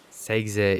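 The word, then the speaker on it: sXe: Segze injected önemi. Segze tam olarak segze diye mi okunuyor bilmiyorum ama küçükken hep SEGze olarak okuduğum için bunun ismi artık SEGze.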